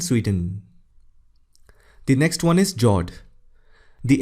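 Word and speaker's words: fjord: norway russia and sweden the next one is jord the f word is silent when you pronounce it these are a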